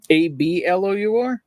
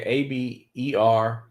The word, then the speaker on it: Aberlour: Ablour? Yeah, Aberlour.